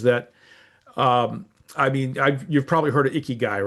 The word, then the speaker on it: ikigai: We are ICKY. GUI. Like the icky guy.